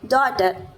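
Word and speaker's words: daughter: Tight उसके बाद में डॉटर यानी कि बेटी जैसे कि मैं हूं फिर नेक्स्ट है जी एच अभी जी एच का जो साउंड है यहां पर तो मतलब साइलेंट ही है लेकिन जीएच का साउंड कहीं पर फ भी है।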